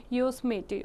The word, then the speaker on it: Yosemite: The Yosemite Falls in California, Yosemite pronounced as Yosemite, okay, valley is world's second highest waterfall.